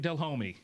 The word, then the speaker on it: Delhomme: get embarrassed by it I'm just proud of the way you said my last name I mean you said Jake Dell homie I've been pronounced it's